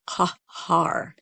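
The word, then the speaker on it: Qahar: spelled it's a cue the transliteration is a q which is a k that's made toward the back of the mouth and the a h h a r kahar and it means invincible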